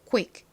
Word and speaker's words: quick: CK는 정확히는 무슨 소리가 난다고요? 크 소리가 납니다. 크. 그런데 이렇게 단어의 끝부분에 오게 되면 굉장히 약하게 발음이 나요.